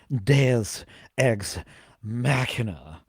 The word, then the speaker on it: Deus Ex Machina: It's pronounced Deus Ex Machina.